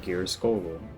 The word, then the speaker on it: Geirskogul: Then finally, level 70, we get Geirskogul. That is how you pronounce that.